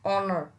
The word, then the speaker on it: honor: So when the H is silent, you have to use this N. Like honor.